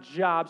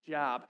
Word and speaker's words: Job: was either Genesis or job's that is not jobs so if you're new to the Bible you like whose job right no it's not job it's actually pronounced